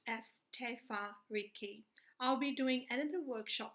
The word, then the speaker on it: Te Whāriki: first series of our tofurkey workshop it is pronounced as tefa Ricky I'll be doing editor workshop on Maori pronunciation there I'll be doing it in more in detail people pronounced differently some people say te whare key some say tamariki just in brief I have